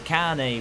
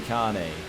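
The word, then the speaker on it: Kahne: in fact that's Casey Kane back there yes I'm aware it's not pronounced Casey cone for the love of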